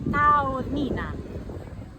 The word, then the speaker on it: Taormina: I asked her to correctly pronounce the name for me. So, we are in Taoina.